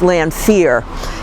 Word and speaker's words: Lanfair: this grave gravestone for the landfair family now pronounced L fear and the first one is in memory of Lieutenant Aaron lanfair he was originally a